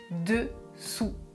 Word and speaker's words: dessous: Et enfin, le dernier, dessous, dessous. Je prononce dessous. La langue ne touche pas les dents.